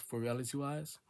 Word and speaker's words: IV Reality Wise: Since my brand is called IV Reality Wise, and it's pronounced for Reality Wise.